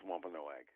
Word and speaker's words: Wampanoag: right yes and uh my preferred pronunciation is wampanoag and i appreciate the